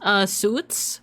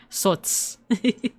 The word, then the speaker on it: Sots: It's pronounced suits or oh no, it says it right here. Sots.